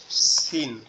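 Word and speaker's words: س: দুইটা হরফ, আরবি টোটাল হরফগুলোর মধ্যে দুইটা হরফ শুধু তিন নোক্তাওয়ালা, একটা হচ্ছে সা আর একটা হচ্ছে সিন, একটা হচ্ছে সা আর একটা হচ্ছে সিন।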